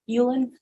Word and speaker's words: Uland: Yulan Amana how do you pronounce your last name Ulen Ulen okay I've been watching